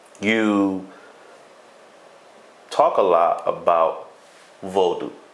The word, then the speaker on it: Vodou: I'm so happy that he says Vodou and not voodoo, because I keep saying it to you phonetically how it sounds and what it awakens